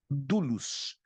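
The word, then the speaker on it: δοῦλος: Grego é a mesma Duos se escreve douros do u l o s mas se pronuncia Duos então a palavra escravo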